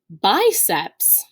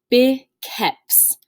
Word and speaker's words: biceps: word we have that we would typically pronounce biceps hmm in latin this word is actually pronounced bikes that i again will